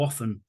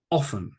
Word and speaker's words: often: occasionally occasionally sometimes sometimes often sometimes the t is pronounced sometimes not often often I say it